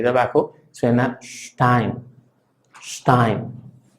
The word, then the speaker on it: Stein: La S funciona como la nuestra, básicamente se pronuncia como la nuestra, pero si está antes de P o antes de T, entonces se pronuncia más cerrada.